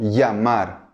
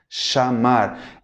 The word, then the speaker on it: llamar: En América Latina, en algunos lugares, va a ser pronunciado como si fuera un I-E o IA, ¿no? Llamar, llamar, ¿ok?